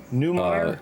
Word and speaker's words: Neumeier: Manny Neumeyer. Neumeier.